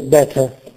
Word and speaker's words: Better: Che significa migliore meglio in inglese si scrive Better ma Si pr Better quindi la r e il messo R si riduce a una vocale indistinta a uno shva Ecco così in tedesco non